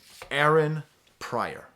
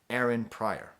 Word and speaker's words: Pryor: Aaron Pryor. Like Richard Pryor, but Aaron.